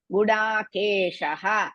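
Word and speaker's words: गुडाकेशः: To remove the Visarga after Gudakesha, next letter is Pa. So we have to add in bit to remove that. You should not say Gudakesha Parantapa. You have to pronounce Gudakesha Parantapa.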